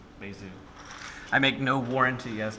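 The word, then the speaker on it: Bézout: So that's B, E, and then it's got a accent on the E, Bezout. I make no warranty as to whether or not I'm pronouncing that person's name correctly.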